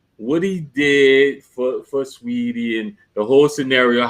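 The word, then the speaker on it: Saweetie: Sweetie, that's how you pronounce it, Sweetie.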